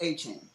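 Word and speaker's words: Etienne: He came out and said the way you properly pronounce it is Achan.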